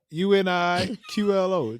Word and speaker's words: Uniqlo: to explain to you just check it out Uniqlo Uniqlo oh that's how you say it yeah